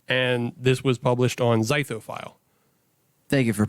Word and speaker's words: Zythophile: And this was published on Zythophile. Thank you for pronouncing that correctly.